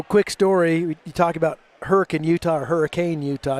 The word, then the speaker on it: Hurricane: You talk about Hurricane Utah or Hurricane Utah. You could tell people aren't from here if they say hurricane because that's exactly how it's spelled.